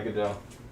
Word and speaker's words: Godot: Yeah, Godot, French.